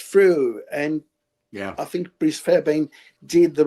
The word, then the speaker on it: Fairbairn: Unfortunately, that person died, Bruce Fairbairn. How do you pronounce his name?